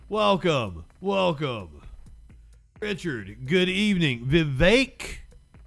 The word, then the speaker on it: Vivek: welcome Richard good evening Vivek okay that kind of sounds like cake but still thank you